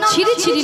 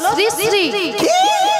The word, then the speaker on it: শ্রী শ্রী: আরে মাসি ওনার নাম ছিরি ছিরি না, বলো শ্রী শ্রী, বলো শ্রী শ্রী।